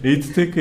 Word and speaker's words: 에이트테크: 제가 장명 센스 별로 없어서네 에이트테크 이제 에트는 사실 AET를 그냥 한국식 발음으로네 aet네 그래서 advanced environment지의 약자 우리가 일반적으로 재활용이라 많이 표현하는데 이제 자원순환이라는 형태로 많이 해요.